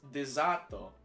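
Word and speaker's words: デザート: word in the Japanese call it boxes it's pronounced dezato yeah I knew it yeah because they have to use their own alphabet to make other words like for us so I could literally I would hear dizat I believe I'm speaking Japanese like Cali uh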